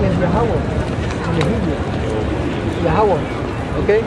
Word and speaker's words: Yahawah: Everybody, the Muslim calls him Allah, but in reality his name is Yahawah. In the Hebrew. Yahawah. Okay? In my country, they tell Yehovah.